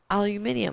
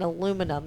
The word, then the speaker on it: aluminum: And they're like, aluminium. And I'm like, no, I think you mean aluminum.